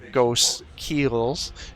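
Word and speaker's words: Ghostkeel: any stealth suits uh ghost Keels as I've been informed is how you say it ke like a ship thank you for whoever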